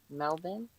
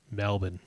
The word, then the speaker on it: Melbourne: And yet Melb Bur ne here is pronounced Melbourne. Melb I Melbourne. Melbourne.